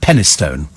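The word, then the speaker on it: Penistone: England called henna stone it's written penis stone but it's pronounced penny stone today ago there's an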